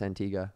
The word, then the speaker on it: Antigua: want to go to Antigua, and you're like, well, I don't really like flying. Then it's pronounced Antigua.